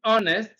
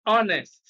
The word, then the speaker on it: honest: house b a c honest d-r now the the the the the the secret here is that options b c and d contains words in which H is silent you you find the